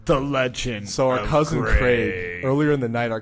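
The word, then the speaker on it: Graig: Yeah, so it's Craig, like with a C, but spelled with a G. So not like Greg, like G-R-E-G, but G-R-A-I-G. And Greg.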